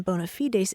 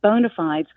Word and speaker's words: bona fides: it and I'm like the clean contemporary sound of Bona fides instead of the Latin which as you say sounds a little pretentious exactly so Bona fides